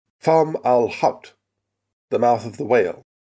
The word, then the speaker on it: Fomalhaut: A pronunciation I decided upon after several long minutes of listening to Arabic speakers online. Fomalhaut, the mouth of the